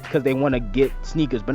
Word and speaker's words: SNKRS: it for a while it's called sneakers i believe they spell it s-n-k-r-s is how they